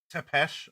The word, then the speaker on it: Tepes: Oh, thank you, Alucard Tepes. Tepesh, I believe, is the proper pronunciation.